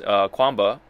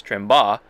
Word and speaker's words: Tremba: So one of the companies, Quamba, or actually I learned the actual pronunciation for it, which is Tremba.